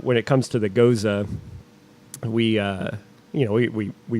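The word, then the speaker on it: Gose: out with anybody who pronounces it the proper German way it's Goza like it's like a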